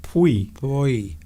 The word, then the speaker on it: puoi: That first word's quite difficult to pronounce. I think it's pui. I think it's actually pronounced pui.